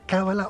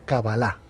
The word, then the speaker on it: cábala: cábala con el acento en la primera vocal cábala o cábala a ver el término